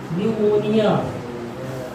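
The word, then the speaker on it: pneumonia: निमोनिया में P silent होता है, ध्यान रखना। न्यूमोनिया पी साइलेंट होता है, पी लगे ना, पी साइलेंट होगा, इसको क्या बोलेंगे?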